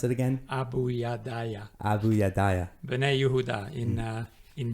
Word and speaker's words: Abayudaya: uh this tribe in uganda how do i pronounce it again abu yadaya bene yehuda in uh in burgundy and these